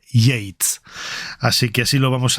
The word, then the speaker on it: Yeats: Y esto, ¿cómo se pronuncia? Y esto yit yat y hm pues hemos buscado eh en ese canal de pronunciación de YouTube que es enriquecedor absolutamente y bueno, es William Butler Yates, así que así lo vamos a a llamar.